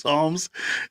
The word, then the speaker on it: Psalms: Was it Biden who said psalms? Who said the psalms? And we're all looking at you like, the P is silent, bro. The P is silent.